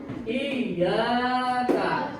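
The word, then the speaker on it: إِيَّاكَ: Kalian harus pakai tasdid. Iyyaka.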